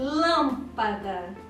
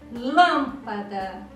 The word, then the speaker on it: lâmpada: falar gripes e a lâmpada viram que a pronúncia forte a sílaba forte cai na antepenúltima alguns me dá a penúltima pa e antepenúltima lan lâmpada outro exemplo lamparina qual